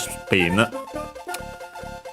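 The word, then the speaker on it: スピン: from English, of course, with the addition of u for su, but is barely heard if at all since it's between unvoiced consonants, so yeah, even closer to English. Accented on the P, just like in English, spin.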